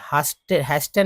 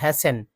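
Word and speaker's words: hasten: Make it A point not टू, है ना, हैस्टन नहीं पढ़ेंगे, हैसन, हैसन में टी साइलेंट हो जाता है।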